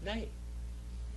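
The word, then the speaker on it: ναί: say it in greek nay just remember nay in english means no but in greek it means yes name all right name all right so when you say nay you're really saying yay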